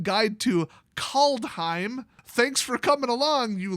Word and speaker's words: Kaldheim: I keep saying Kaldheim. It's Kaldheim. It's 2 syllables. Kaldheim.